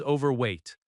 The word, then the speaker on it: overweight: Maybe the agent says, "Your bag is overweight." The stress falls on over overweight.